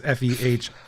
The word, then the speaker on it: Fehralji: Feralji is Fehralji.